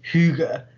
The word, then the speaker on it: hygge: is this uh idea that they call it's pronounced hygge which was a in vogue for a while